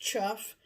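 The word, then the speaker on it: chough: as well is the chuff c-h-o-u-g-h but it's pronounced chuff and it has an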